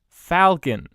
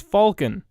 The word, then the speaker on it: Falcon: quite get Carlin's pronunciation he can say Duke and Stuart fine but Falcon its Falcon he sounds like he's saying Falcon what kind of name is Falken Stuart and Falcon used